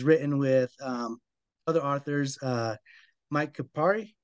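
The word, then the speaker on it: Kupari: And he has written with other authors, Mike Kapari. How do you is that the Dead Yep, Six? Is that how you say his name? Coopery.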